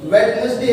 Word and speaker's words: Wednesday: अगर आप इसको वेडनेसडे पढ़ते हैं तो भी ये गलत है, और अगर आप इसको वेडनेसडे पढ़ते हैं तो भी ये गलत है। इसकी सही प्रोनाउंसिएशन फ्रेंड्स होती है वेडनेसडे।